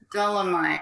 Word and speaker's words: Dolemite: pronounce the guy's name dole oh mite dolomite it's kind of like dynamite which you wish you